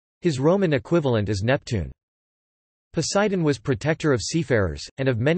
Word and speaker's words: Ποσειδῶν: Poseidon, Greek, Poseidon pronounced Poseidon, was one of the 12 Olympians in ancient Greek religion and myth.